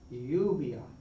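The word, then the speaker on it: lluvia: When you see it together, though, it's really going to be pronounced like a Y, a Y sound. So po yave yave yubia yubia what's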